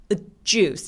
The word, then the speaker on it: juice: 그래서 이렇게 J로 스펠링 된 애들, J로 시작하는 스펠링의 애들은 입술을 엄청 쭉 내밀어서 소리를 내주시는 게 필요해요. 그래서 그냥 주스가 아니라 juice 이렇게 하면서 시동을 걸어주세요.